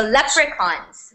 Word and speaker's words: leprechaun: not really English so leprechauns what are leprechauns guys laugh gold sorry what what picture Leprechaun not chons leprechaun leprechauns okay Victor what are what are